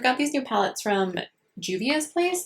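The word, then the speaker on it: Juvia's Place: So I've got these new palettes from Juvias place, I believe is how you say it.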